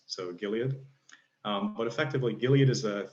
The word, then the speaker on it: Gilead: always think of it in my head as Gilead, which is evidently not how it's supposed to be pronounced, so Gilead.